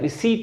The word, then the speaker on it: receipt: Gandhi signed ए रिसीट, Gandhi signed ए रिसीट, ये जो RECEIPT लिखा हुआ है इसमें पी साइलेंट होता है, रिसीट बोलते हैं इसको, रिसीट।